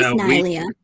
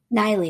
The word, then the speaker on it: Neillia: like I had translated from our from online pronunciation. So it's Chinese Neillia. We're saying right now the correct pronunciation of that is Neillia. Neillia.